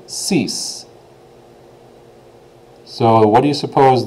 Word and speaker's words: six: you can see it's spelled exactly the same as our English counterpart pronunciation is a little bit different though it's ceas ceas instead of six they say ceas so what do you